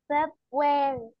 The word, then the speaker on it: February: عايز نركز قوي برضو علشان ننطقهم صح. ماشي، يلا نقول January January January January February ايوه الار دي سايلنت.